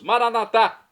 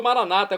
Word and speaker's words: Maranata: E agora eu clamo do aramaico, dialeto de Jesus, Maranatá, como dizemos nós católicos, ou Maranata, como dizem nossos irmãos separados, os evangélicos ou protestantes. Não importa a pronúncia, o significado é o mesmo.